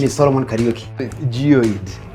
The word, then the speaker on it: Geoid: Geoid. That is how it's pronounced.